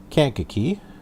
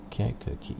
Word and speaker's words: Kankakee: So we are here at Greater Kankakee. Kankakee, yeah. Just make sure I'm pronouncing it right.